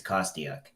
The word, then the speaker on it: Kostiuk: original Ukrainian was but really it's kostiak trust dick all right great fantastic so um